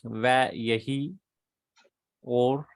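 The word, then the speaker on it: וַיְהִי אוֹר: The syllable is forced open. Okay. So va, you have to pronounce Vayehi or.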